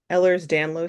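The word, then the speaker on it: Ehlers-Danlos: Um, and you have uh Eller's Danlo syndrome. Did I pronounce that correct?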